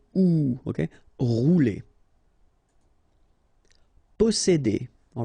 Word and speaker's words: posséder: Posséder. All right, here remember one vowel, two vowels here, before and after, double S, really strong S. S. Posséder. Posséder.